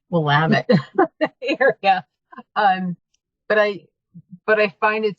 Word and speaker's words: Willamette: the Willamette, now that I know how to pronounce that correctly, Willamette area.